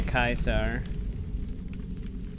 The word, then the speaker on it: Caesar: but in the game they still spell it as Caesar when they say kaisar yeah that probably explains